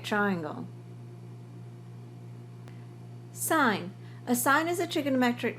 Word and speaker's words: sine: of a right triangle sign a sign is a trigonometric ratio abbreviated as sin except we don't call it sin we say sign but we write it as SI n sin cosine cosine is a